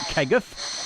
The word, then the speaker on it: Kegworth: Is it Keguff? That's how the locals say it. It's Kegworth.